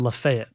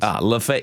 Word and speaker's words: Lafayette: It's 4th and Lafayette. Yeah. To come back to the pronunciations. Lafayette.